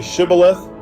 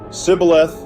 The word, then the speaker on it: Shibboleth: If he replied, "No," they said, "All right, say Shibboleth." If he said Sibboleth because he could not pronounce the word correctly, they seized him and killed him at the fords of the Jordan.